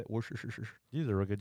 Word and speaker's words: Worcestershire: Now, right here, 1 teaspoon of Worcestershire sauce. Is that how you say it? Worcestershire.